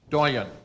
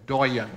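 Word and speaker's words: doyenne: The doyen. This must come from French, considering the last pronunciation. Yeah, French, because this one's as good as spelled. Doyen or doyen.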